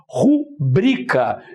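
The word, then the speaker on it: rubrica: não é pública se aqui eu coloquei como exemplo de palavra paroxítona tenho aqui a palavra pronúncia correta rubrika então rubrika e não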